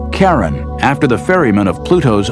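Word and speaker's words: Charon: christe suggested the name Karen after the Ferman of Pluto's underworld in Greek mythology but preferred to pronounce it Sharon more like his wife's name Charlene from the Motions of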